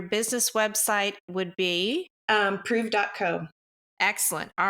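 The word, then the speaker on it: Preuv: So, if you want to follow um, Prove and it's P R E U V. Um, it rhymes with move, but it's spelled P R E U V.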